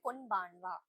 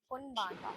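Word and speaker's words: こんばんは: Good afternoon ஐ மீன் good evening வந்து கொன்பான்வா. கொன்பான்வா. கொன்பான்வா. First கொன் pronounce பண்ணனும், அதுக்கப்புறம் பான் ப்ரொனவுன்ஸ் பண்ணனும், அதுக்கப்புறம் வா ப்ரொனவுன்ஸ் பண்ணனும்.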